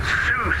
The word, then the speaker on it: Sault: heavier back correct except the airport is called Sue SA I know it doesn't look like it but that's how you pronounce it yes is X-ray and call back for push fantastic good to good to know I'm from Quebec so that is a French word that would be pronounced so but I guess it's Sue thanks for the correction